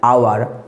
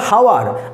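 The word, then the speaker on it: hour: আওয়ার। আমরা কিন্তু বলছি না হাওয়ার, আমরা বলছি আওয়ার। এখানে কিন্তু এইচটা আবার সাইলেন্ট, তাই এখানে হবে আমাদের অ্যান আওয়ার লেট।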